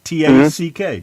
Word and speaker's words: Tack: T-A-C-K.